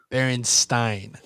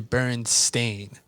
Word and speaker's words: Berenstain: A lot of people remember it being spelled and pronounced Berenstein, but it's actually Berenstain, which is.